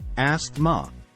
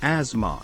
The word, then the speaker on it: asthma: Wednesday moving on to asthma some people say asked ma but the correct pronunciation is asthma next up is niche some people pronounce it